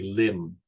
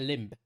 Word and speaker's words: limb: I'm not sure why you're putting the extra pronunciation on the b. It's limb, not limb. It's limb. It's spelt limb, but it's pronounced limb. Not my fault your pronunciation doesn't follow the written word.